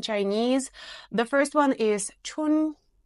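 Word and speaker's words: 春: have four different tones you're supposed to pronounce it like you're singing it at a slightly higher note than you usually speak tun translates into spring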